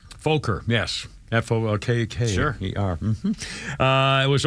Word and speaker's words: Fokker: Is that how you pronounce it? Fokker? Fokker, yes.